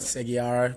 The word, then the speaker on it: Segeyaro: I'm here with the one and only James Segeyaro. Is that how you say it properly? Segeyaro? Yes. Or is that an Aussie slang? Nah. That's how you say it. Segeyaro.